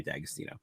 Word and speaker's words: D'Agostino: fortune uh but but it's pronounced the same way dagostino okay and we also